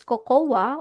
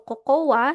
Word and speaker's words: cocoa: po natin dito is cocoa or coca. Sa English ang tawag po nila dito is coco. Silent A. Okay? So hindi po ito cocoa. Hindi cocawa. Ito ay coco.